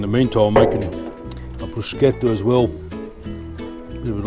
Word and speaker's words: bruschetta: the cafes for a bruschetta. I just don't get it. In fact, they can't even pronounce it right. It's bruschetta, not bruschetta.